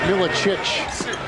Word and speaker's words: Milicic: here tonight in some spot minutes the news pronounced Miletich they go inside rich Sharif just but we've